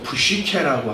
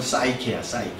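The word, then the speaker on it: ψυχή: 그래서 여기서 푸시케라고 하는 이제 요즘 영어로 이제 영어 발음을 하면 푸시케니까 사이코라 그러면 큰일 나니까 영어 발음을 하면 사이케야.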